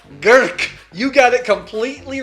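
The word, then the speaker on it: Grk: It's even hard for you to pronounce. But how about Gurk? Gurk, you got it completely right.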